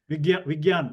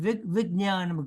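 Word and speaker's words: vijñānam: There is no G sound there. There's a, the English G ga sound is not there. Okay. Okay, because sometimes people make that as not even nya. They don't even pronounce nya. They make it as a y. Vigyan or gyan. Okay, But I can hear ga sound. I don't know. Yes, you should not.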